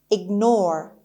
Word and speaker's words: ignore: The next word is ignore. The stress is on N.